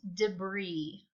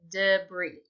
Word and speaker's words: debris: our story is inquisitive this word looks like debris but it's debris okay it's kind of weird weird the I is making an e sound but that's how you say it debris and say it yourself